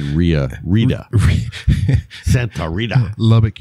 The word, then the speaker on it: Santa Rita: I said Rita. Santa Rita. Lubbock, you don't pronounce the T. That's right. You just go R-I-A.